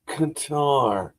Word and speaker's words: Qatar: Yes, I take quite a bit of pride in my ability to pronounce worldly terms. Yes, it's Qatar.